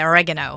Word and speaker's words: oregano: human cumin cumin well i say oregano when you americans say oregano so oregano right well